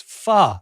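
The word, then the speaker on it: phở: It's almost like a question mark.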